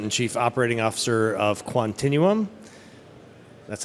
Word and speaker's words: Quantinuum: I'm the president and Chief Operating Officer of Continuum that's how you pronounce it Continuum so thank you uh we are uh we're